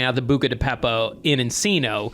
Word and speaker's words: Beppo: What is it supposed to be and what do I say? Beppo. It's supposed to be Beppo. Yeah, and you said Peppo.